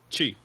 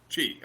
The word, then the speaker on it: Chi: Is it pronounced Shai, by the way? Chi. Chi. Okay. Like Tai Chi.